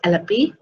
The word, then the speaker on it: Alleppey: no it's Trivandrum okay alle pure it is pronounced is alleppey okay then what what could be the I